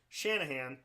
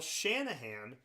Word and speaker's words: Shanahan: Shanahan, I want to see how many people can spell it. It's literally, you write it out like it sounds, but I feel like Shanahan's a name that people get wrong.